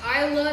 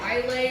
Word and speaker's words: Islay: So I'm sure I butchered all the pronunciations today so far, but they do tell us that this is pronounced Isla, not Islay or Islay, right?